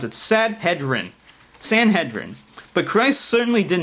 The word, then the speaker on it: Sanhedrin: You got to pronounce it for me first so I know how to pronounce it. Sanhedrin. That's why I'm how I'm going to pronounce it. Sanhedrin.